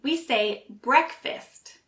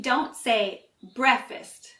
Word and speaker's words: breakfast: two words but actually we say breakfast so it sounds more like brick rather than break and fist instead of fast we also say it